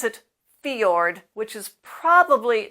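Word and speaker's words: fjord: is this word which comes from Norwegian we pronounce it fiord which is probably not perfect Norwegian this combination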